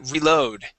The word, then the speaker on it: reload: But on this word, we actually pronounce that re. We say reload. Reload. Okay, one more time. Reload. Reload. Yeah, so we really do pronounce that.